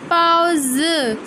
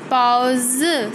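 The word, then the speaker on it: baozi: पाओ ज, बी की साउंड पी की साउंड होती है।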